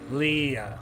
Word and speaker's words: Leah: It's alright, Leia. It's alright. Is it Leah or Leia? Is it like Princess Leia or is it Leah? Leah.